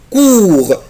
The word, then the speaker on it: cour: la cour la cour طبعا اخلي بالي يا ولاد حرف لا لتر او بلس لا لتر يو يعني الاو والاو بنطقها او كور لا كور لا كور لا كور كور اللي هو البلاي جراوند بتاع المدرسة.